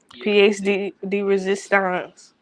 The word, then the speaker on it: pièce de résistance: Pièce de résistance.